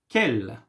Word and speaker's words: quel: Quel, quelle, quelle, quelle. Yes, it's the same. The pronunciation is the same.